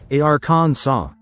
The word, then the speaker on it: Arkansas: legislature passed a resolution declaring Arkansas to be pronounced arans saw silent s and all.